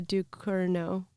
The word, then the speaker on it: Ducournau: Julia, I always say her last name wrong. Julia Ducournau.